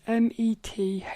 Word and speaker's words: Metheney: You spell it, it's Brynn, and then it's Metheney.